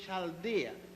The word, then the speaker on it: Chaldea: Abraham was born in the city of Ur in Chaldea. It is spelled U-R, Ur, and Chaldea is spelled C-H-A-L-D-E-A.